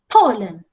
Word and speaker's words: Poland: Yang ini, Poland. P-nya besar, L-nya kecil.